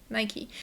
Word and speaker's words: Nike: Nó thực sự là Nike. Từ nữ thần Hy Lạp cũ thực sự. Nike. Và bởi vì đó là một công ty Mỹ Tôi đoán đây là cách phát âm chính xác. Hình như / nike /. Nhưng chúng tôi nói Nike.